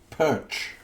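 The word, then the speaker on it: Pötzsch: Oliver Perch. Perch. Perch. Perch. Almost like the fish, right?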